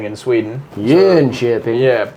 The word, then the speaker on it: Jönköping: It goes to a city called Jönköping in Sweden. Jönköping? Yeah, spelled with a J.